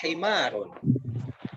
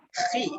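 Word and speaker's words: حمار: Kemudian pakainya ha, bukan kho ya. Hadza himarun. Himarun. Bukan khi.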